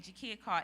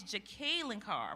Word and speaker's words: Jacqueline Carr: I've been saying Jakia Carr. It's Jacqueline Carr, right, Dr.